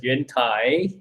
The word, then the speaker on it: Yuentai: name all right okay my name is pronounces yuentai it's a chinese name i will i'll most